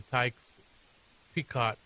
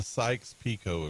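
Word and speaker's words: Sykes–Picot: the B four is that the way it's pronounced right keep going Tom declaration and the taes peacott agreement so you can understand why you're constantly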